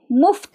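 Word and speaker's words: मुफ़्त: ವಿದ್ಯಾ ವಿದ್ಯೆ ಅನ್ನೋದನ್ನ ಆಮೇಲೆ ಪ ಪ್ಲಸ್ ತ ಇಲ್ಲಿ ಪಿಯಲ್ಲಿ ಫ ಅನ್ನೋ ಉಚ್ಚಾರಕ್ಕೂ ಬಳಸುತ್ತಾರೆ ಆದ್ದರಿಂದ ಇಲ್ಲಿ ಮುಫ್ತ್ ಅಂತ ಒಂದು ಶಬ್ದ ಬಂದಿದೆ ಮುಫ್ತ್ ಅಂದ್ರೆ ಫ್ರೀ ನೀವೀಗ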